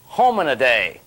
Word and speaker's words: Hominidae: Now, I've got a good way to pronounce that. If your mom calls you and says, "Where are you?" you just say, "Mom, look, don't worry. I'll be home in a day."